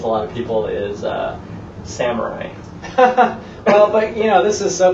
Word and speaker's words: samurai: But for anyone who wants to know the real pronunciation of samurai, it's actually not samurai. It's samurai. Samurai.